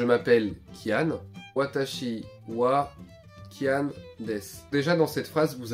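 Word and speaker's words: です: ne veut rien dire ça s'écrit dessous mais ça se dit des et ça veut rien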